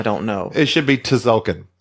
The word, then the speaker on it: Tzolk'in: I'm talking about Tzolk'in. Oh, yeah. The T is silent. The Mayan calendar.